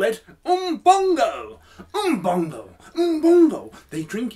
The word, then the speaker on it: Bongo: they call an Bongo Bongo does not rhyme with dong dong